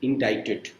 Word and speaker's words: indicted: C silent. In pronunciation it comes with indicted.